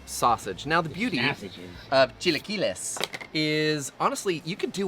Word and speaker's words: Chilaquiles: You have to pronounce it properly every time. Chilaquiles.